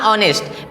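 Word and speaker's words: honest: एम ऑनेस्ट यहां पे इसको कुछ लोग नेस्ट पढ़ते हैं तो ये एज साइलेंट है क्या है साइलेंट है तो आई एम ऑनेस्ट मैं क्या हूं ईमानदार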